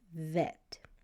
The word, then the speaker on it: Vet: And if it's making a V sound, it's going to be called vet.